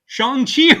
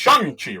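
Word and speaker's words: Shang-Chi: because of this movie, I've been pronouncing Shani wrong for like 30 odd years. It's Shangi, right? It's Shangi. And uh and it's but it's spelled like shangi which is how I ignorant right white dude was pronouncing it and I think that's how most everybody in comics was pronouncing it.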